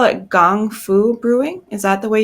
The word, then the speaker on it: gongfu: your website um about do you call it gong foo brewing is that the way you would pronounce that yeah gongfu yeah yeah um so tell us a bit